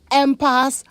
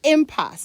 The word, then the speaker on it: impasse: quite like that word I've heard people say empath I'm pass on pass but it's impasse it's not clear where these alternative pronuncations came from but there's only one correct way of saying it impasse i-m-p-a-s-s-e impasse a situation in